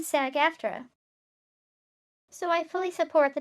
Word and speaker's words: SAG-AFTRA: So I was watching a podcast on the WGA SAG-AFTRA strike, pronounced WGA and SAG-AFTRA.